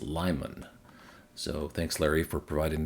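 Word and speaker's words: Limon: A viewer also chimed in with the correct pronunciation of this city in Colorado on Interstate 70 is Lyman.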